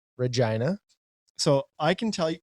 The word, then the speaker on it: Regina: We pronounce it Regina, and that's funny to people.